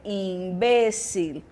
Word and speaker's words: imbécil: então magia e Mara a palavra imbecil no espanhol eu vou ter imbécil Então esse imbécil fica